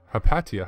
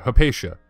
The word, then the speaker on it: Hypatia: which we do uh to name it hapatia hypatia is actually how it's pronounced hypatia um so we